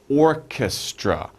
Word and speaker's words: orchestra: We're looking for orchestra. Orchestra. 3 syllables.